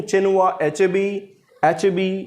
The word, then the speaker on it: Chinua Achebe: चिनुआ अचेबी ये नाम बोला जाता है इनका।